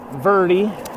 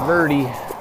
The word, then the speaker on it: Verde: lovely town of Kemp Verde we ask the locals how you say it last night it's not Verde or bird it's birdie and they're with me